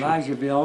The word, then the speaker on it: Elizaville: Do you know the pronunciation? Elizaville. Elizaville, Kentucky cemetery.